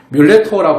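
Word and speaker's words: mulatto: 뮬라터 이런 말이 있는데요. 이게 뮬레토라고 발음하는데요. 뮬레토라고 그러는데 이게 뮬이니까 이제 바뀌었단 말이잖아요.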